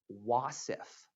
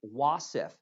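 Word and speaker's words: wasf: cycle three will have our first wasif let me say that again our first wasaf uh w-a-s-f that's how it's spelled and a wasaf is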